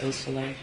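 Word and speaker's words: Beausoleil: Could you tell me the pronunciation of Hanas and Baldwin's mother's name, Nicole Osolea? Yes. Osolea.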